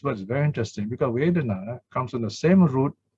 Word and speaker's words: vedanā: This word is very interesting because vedana comes from the same root, comes from the root wit, meaning to know. And you know the English word wit, W-I-T, sounds the same even.